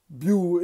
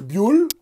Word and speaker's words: Bioul: formation et de bio bio on ne prononce pas le l on dit bien on peut dire buell bon alors ça fait